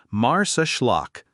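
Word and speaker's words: Marsaxlokk: Welcome to Mars Schllock, pronounced Mars Schllock.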